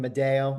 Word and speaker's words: Madaio: Uh Mike, did I pronounce that name correctly, that last name, Mado?